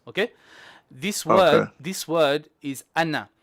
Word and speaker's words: أنا: Okay, this word is anna. It is written with an alif, but the alif is not pronounced.